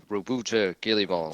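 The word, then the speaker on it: Roboute Guilliman: I think it was yesterday, with basically Primarch Rubute Guillemot. That they say it in that trailer as well. Yeah. I, Rubute Guillemot. So we know how he's pronounced now.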